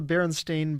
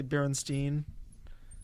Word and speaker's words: Berenstain: yeah and also the Berenstain Bears that was just BS even even though most people just say Berenstein yeah which which makes people just think it's bit it's spelled that way yeah then but then